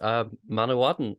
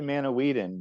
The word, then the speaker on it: Manawydan: Usually, if there's two D's, it's like a the sound, but it's only one, so it might just be Manawydan. And Y's make an I sound. So Manawydan, like a short I.